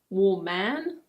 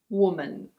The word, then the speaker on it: woman: For example, these words are pronounced: explain. And: complain. Next we have: woman. It's not "wu-man". It's: woman.